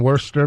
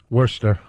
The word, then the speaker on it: Worcester: Worcester. Yeah. All right. Whatever. They like to call Worcester up there. Oh, Worcester? Worcester. Then take the R out. The R is silent.